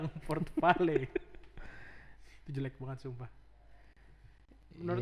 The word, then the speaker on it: Port Vale: Heh, ternyata bukan portfel ya. Baca Port Vale. Emang Vale bacanya. Port Vale.